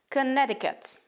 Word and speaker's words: Connecticut: m hey massachusetts la fin du mot se prononce plus en massachusetts massachusetts connecticut city ici aussi on entend qu'on ne prononce